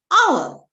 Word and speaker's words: hour: See, our, honest. Teacher, H is a consonant. Enna pinne a use cheyidude? No, H is silent there.